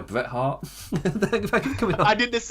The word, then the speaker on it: Bret Hart: Well, I will be back on Saturday to talk about the Royal Rumble, which is, you can't Bret Hart, that's how you say it.